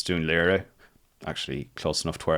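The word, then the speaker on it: Dún Laoghaire: So yeah, the Irish pronunciation is not quite right. It's Dunleary, actually close enough to where I live.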